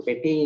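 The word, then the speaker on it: petit: So petty is written as p e t i t. This last t is silent.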